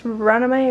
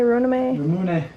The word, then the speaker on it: Ramune: Runame? Ramune.